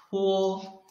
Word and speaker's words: 坡: But when read pour, your lips didn't block the airflow.